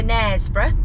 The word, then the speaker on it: Knaresborough: this now uh k is for nesboro silent k connersborough and we are off